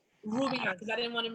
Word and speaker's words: Roubian: Roubian, because I didn't want to mispronounce it.